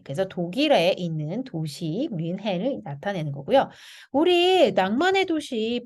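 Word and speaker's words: München: 근데 이거는 독일에 가면은 민헨이라고 발음하진 않아요. 독일 사람들도 뮌헨이라고 발음을 하고요. CH 발음을 슌이라고 발음을 하고 흐라고 발음하기도 하거든요.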